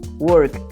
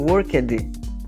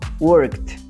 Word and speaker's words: worked: Então, worked. Ao contrário que muitas pessoas pronunciam worked. Não tem esse som de ED aí no final, tá? O som é T mesmo, T de tatu. Então, worked.